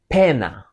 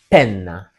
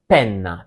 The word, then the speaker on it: penna: And also another detail in Italian you have to emphasize the double letters. So don't pronounce it as penna. No, it should be penna.